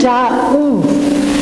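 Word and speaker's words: Daoust: And the pronunciation is Daou. Daou. Daou. Silent O-U-S-T.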